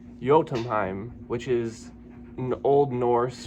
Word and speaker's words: Jötunheim: But from what I can gather online, this is pronounced Jötunheim, which is an Old Norse for giant land.